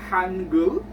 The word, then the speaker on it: Hangul: an idea the Korean alphabet is called the Hangul in Korea so it goes like this this